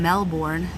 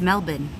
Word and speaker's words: Melbourne: Australian like lesson like I never knew that I was saying Brisbane incorrectly and Melbourne all this time I've been saying Brisbane and it's Brisbane and all this time I've been saying Melbourne and it's Melbourne like my mind is